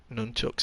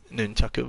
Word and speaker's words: nunchaku: I'm going to take a pair of nunchucks, I think. I know that's not the correct way to pronounce that. I know it's nunchaku, but I think nunchuck sounds much better.